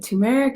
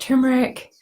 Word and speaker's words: turmeric: turmeric I've heard it tumeric I've heard it turmeric so bear with me as I interchanged these pronunciations all right so um